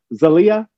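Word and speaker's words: Zaila: uh help me lauren i think that she pronounces it zalia uh yeah avangar okay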